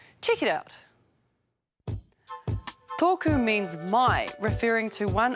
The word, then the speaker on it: tōku: You'll hear the correct pronunciation of each word, and then you'll see how it's spelt. toku Toku means my, referring to one item.